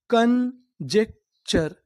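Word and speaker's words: conjecture: CON, हम लोग CON को पढ़ते हैं इंग्लिश में कन, यानी आपको इंग्लिश में कहीं पर CON लिखा मिले तो हम लोग CON को क्या पढ़ते हैं? कन। JEC, जेक, कन जेक। TURE को पढ़ते हैं चर, यानी आपको इंग्लिश में कहीं पर TURE लिखा मिले तो आपको क्या पढ़ना है? चर। तो हमारी मीनिंग क्या बनी? कंजेक्चर, कंजेक्चर, कंजेक्चर।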